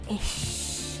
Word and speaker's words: Eeish: made it ish and the ish is spelled e e i s it's like ish you know like ah